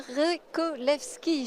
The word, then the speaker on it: Revcolevschi: Très bien, merci beaucoup Benjamin Rekolewski. J'espère que je le prononce correctement.